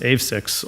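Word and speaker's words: AveXis: And then Lion, Juventus, and I believe it's pronounced AVSIX, also received special designations.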